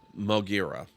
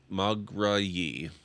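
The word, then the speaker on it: Moghrayi: A million breaths of salt the wind heaves over the great salt desert, Mogira. Yeah, I pronounced that very wrong. Mograyi.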